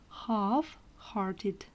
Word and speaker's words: half-hearted: Итак, absent-minded, рассеянный, half-hearted. Обратите внимание, буква L не произносится.